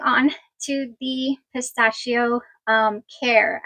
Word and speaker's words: Khair: to the pistachio um care I believe that's how you pronounce it k h a i r now those bottles in